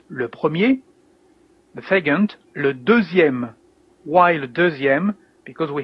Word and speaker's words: deuxième: You can hear that here in deuxième that the letter X is like is pronounced like a Z, deuxième actually.